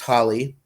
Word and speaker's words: Holy: Him and Susie Q give birth to Holly, although her name is written Holy, like holy, but it's pronounced Holly. Gives birth to Holly Joestar.